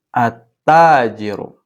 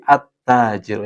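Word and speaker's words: التاجر: Selanjutnya nomor dua, attajiru. Attajiru bukan alta tapi atttajiru yang benar. Karena ini masuknya alif lam syamsiyah.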